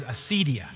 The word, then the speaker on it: acedia: The ancient word was that they called this condition was, we pronounce it modern days, acedia.